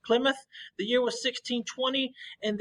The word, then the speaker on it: Plymouth: it looks like plymouth but it's actually um pronounced plymouth the year was 1620 and then they made